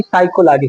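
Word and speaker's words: psychology: टी मनोविज्ञान की अंग्रेजी साइकोलॉजी साइकोलॉजी की मीनिंग देख लो पी एस वाई सी एच ओ एल ओ जी वाई पी जो होता है उसमें साइलेंट होता है पी एस वाई सी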